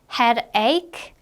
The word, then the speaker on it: headache: 발음할 때는 이 CH 부분이 어떻게 발음이 되니 지금? 크로 발음이 나요. 그래서 toothache, headache, 크로 발음해 주시면 되겠습니다.